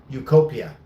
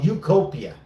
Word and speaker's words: Utopia: That's how you Ukopia. Oh, Utopia. There it is. That's how you pronounce.